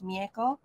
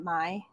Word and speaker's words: Mie: Her name is Mieko. And Mie, and I know a lot of people pronounce it Mai, but that's fine. Yeah.